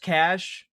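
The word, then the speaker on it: cache: Um, it's kind Look, I also I know it's pronounced cash.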